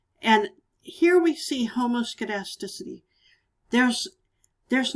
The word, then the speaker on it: homoscedasticity: variance this is called homoscedasticity this is sometimes spelled with a k instead of a c there but regardless it's homoscedasticity and what that means is that we have